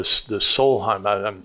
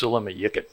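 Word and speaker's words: Sólheimajökull: When I went to this one glacier called the Solheim, I'm doing bad English American pronunciation, Solheim. It's actually pronounced Silamayikit by the Icelanders.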